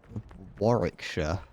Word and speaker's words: Warwick: oh maybe I have I've been to warshire warshire or if you're a uh if you're someone who doesn't know the local dialect you would pronounce it as Warwick yep now we can